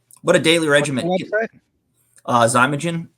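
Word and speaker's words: Xymogen: a daily regimen uh zagin uh it's spelled but instead of a z it's spelled x y m o g n um do yeah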